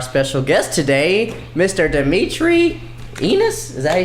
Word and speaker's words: Enis: like that like obviously your last name rhymes with dinosaur I mean penis yeah hey I had